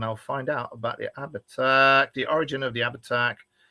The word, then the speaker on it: Abhartach: Oh, I've got to try and pronounce this properly. Abhartach! Abhartach! What is this? It's the Abhartach.